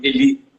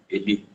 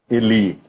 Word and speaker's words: Eli: É só corrigindo a pronúncia do meu nome, Eli, não é Eli. Eli, Mas certo.